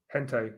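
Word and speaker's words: gente: Hente. Okay, hente. Yeah, of course it is. Yeah, that's my English tongue getting involved. When I see a G, I say it like, yeah, hente.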